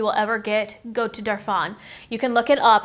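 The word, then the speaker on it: Darphin: peaceful facial you will ever get go to darf on you can look it up it's spelled dar Phin they're super sweet in there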